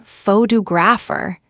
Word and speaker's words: photographer: For example, in the word photograph, the stress is on the first syllable, but in photographer, it's on the second, and in photographic, it's on the third.